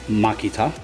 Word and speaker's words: Makita: these I'm using a Makita drill or if you are from Japan it is pronounced Maki tough that's right your boy